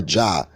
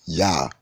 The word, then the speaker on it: Yah: It's spelled with an I-A-H, or Jah, right? Well, it's really Yah, okay?